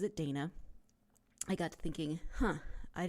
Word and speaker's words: Dana: And then after I sent that, and Anna had responded saying she pronounces it Dana, I got to thinking, I didn't ask Anna how she pronounces her name.